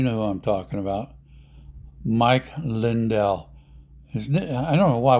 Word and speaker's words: Lindell: money style or more French or more something Mike lindel is is how it should be pronounced but anyway here's the story about Mike